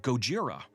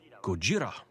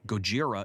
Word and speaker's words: Gojira: supposed correct title and they pronounce it gojira which is also wrong it's just a different wrong if we were proper and careful about getting the inflection right gojira maybe that would be